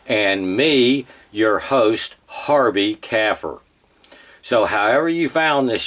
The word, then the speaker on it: kafir: And I, as well as Dr. Bill Warner, pronounce it kafir, almost like a cow's baby, a calf, and a type of conifer tree, a fir.